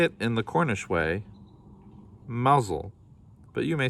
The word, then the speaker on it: Mousehole: day they say it in the cornish way mazel but you may say it as you choose